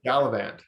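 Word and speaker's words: Galavant: G Galant G oh probably saying it wrong gallivant gallivant yes yes scalant where like he had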